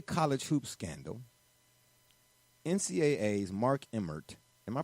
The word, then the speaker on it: Emmert: well amid to college hoops scandal NCAA's Mark Emmert am i pronouncing that correct brother rich Emmert emirate you